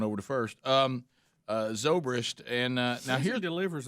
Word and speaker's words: Zobrist: the guy's name ben sobra zobrist zobrist ben zobrist and he did give the cubs he was